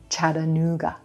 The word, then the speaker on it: Chattanooga: We're gonna emphasize the blue moon oo vowel coming after the N consonant. Chattanoo, Chattanoo. Then we have the G consonant, g, g, and a schwa for our final syllable.